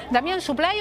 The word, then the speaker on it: Supply: ¿Suplay o Suplé? ¿Cómo se pronuncia tu apellido? Me da lo mismo, pero está bien, Suplay está bien.